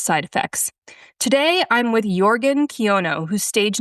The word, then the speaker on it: Jørgen Kjønø: My name is actually pronounced Jørgen Kjønø.